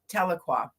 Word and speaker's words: Tahlequah: So, and it's Tahlequah. Okay, Yeah. I wasn't about to butcher the name of that.